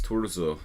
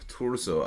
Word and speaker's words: Turzo: It's Turzo. Turzo Attila. Very hard to make that sound.